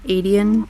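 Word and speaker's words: Aedion: hope I do like that um her cousin Aden or I don't know how you say it no you're right Aden um with him I love that he like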